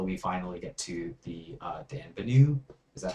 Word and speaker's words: Denonbu: this set until we finally get to the Denonbu. Is that how I pronounce it? Let me take a look. It's in a card. It's on a card. Denonbu.